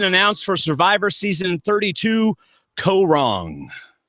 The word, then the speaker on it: Kaôh Rōng: The cast has been announced for Survivor season 32, Corong. That is how you pronounce it, David. co- wrong. I'll be letting you pronounce it all season long. And I'm not wrong. It's co- wrong.